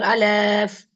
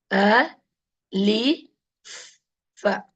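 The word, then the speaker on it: ألف: I have been teaching, some of the kids, okay, small kids will be learning Alif, Alif like that because they don't know the correct pronunciation. The letter is Alif. A, Li, Fa with a sukoon. Alif.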